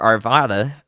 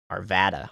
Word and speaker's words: Arvada: it now and you can see in our Arvada uh cam there that now the sky or